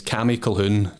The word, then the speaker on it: Colquhoun: the main one it's CI khun khun has got a silent q in it I'm sure you'll put